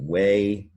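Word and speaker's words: weigh: is silent and then whey you don't hear the gh the ei is making an a two really tricky words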